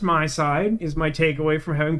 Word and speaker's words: MiSide: you doing we're playing apparently it's pronounced my side is my takeaway from